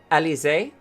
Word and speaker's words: Elysia: Oh, remember, you found out her correct pronunciation. Elysia?